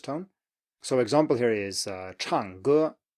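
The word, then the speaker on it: 唱歌: So example here is 唱歌, 唱歌, to sing, 唱歌.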